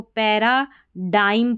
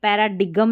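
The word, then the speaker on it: paradigm: अब जैसे इसको पैराडाइम पढ़ा, पैराडाइम, ये पैराडिगम नहीं पढ़ा, ठीक है, G साइलेंट है।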